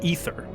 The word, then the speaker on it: aether: It's not ether, it's aether? Well, they pronounce it ether.